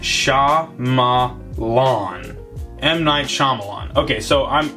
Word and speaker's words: Shyamalan: know surname is pronounced sha ma lawn m9 shyamalan okay so